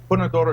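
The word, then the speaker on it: Hunedoara: I believe, is it Honodora? No, that's right. It was Honodora Castle.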